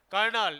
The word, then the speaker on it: colonel: कर्नल एक पद का नाम है, कर्नल की स्पेलिंग देख लेना, ये होती है, कर्नल में आर नहीं है, कर्नल है ये।